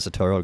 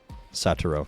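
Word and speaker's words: Satoru: onto them you got satoro Gojo card deal very nice I know I pronounced that wrong saturo there we go why got an ad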